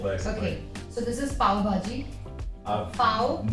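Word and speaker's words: pav bhaji: Okay, so this is Pavbhaji. I'm Pav not going and- to be able to pronounce that.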